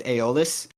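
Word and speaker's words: Aeolus: the wind god um Eis and I think the more popular pronunciation nowadays is aolis uh so that character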